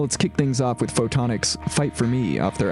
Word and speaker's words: Photonak: Coming up on State of Art, my interview with Anchorage band Photonak, spelled like photon, A-K.